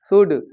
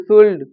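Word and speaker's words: should: से वर्ड जो हैं वाक टॉक उड शुड इनमें एल साइलेंट होता है लेकिन वो इनको भी उल्ड सुल्ड वाल्क टालक करके पढ़ते हैं और वह यह स्थिति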